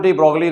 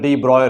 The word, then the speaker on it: de Broglie: हम लोग को बताना है डी ब्रोगली रेशियो, जो प्रोनाउंसिएशन आप लेते हैं डी ब्रॉय ratio, डी ब्रॉय wavelength. Clear? तो लेकिन जनरली हम लोग यूज कर लेते हैं डी ब्रोगली वेवलेंथ।